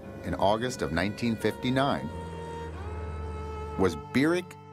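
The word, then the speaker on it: Barack: august of 1959 was birak Hussein Obama that's how he pronounced his name burek he was welcomed at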